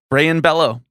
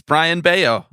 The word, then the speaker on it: Brian Bello: them so fast that I just said his name Brian Bello I did I'm not afraid of owning up to it it's Brian Baio I just pronounced his name wrong and you know what